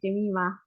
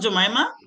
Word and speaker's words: Jima: okay thank you and my name is pronounced as Jima actually not jamaa say it right with